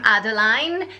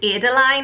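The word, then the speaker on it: Adaline: Next, it's the name Adeline, spelled A-D-A-L-I-N-E, or you could pronounce it Adeline, and personally I do prefer Adeline as the pronunciation, and then you can shorten it to Ada.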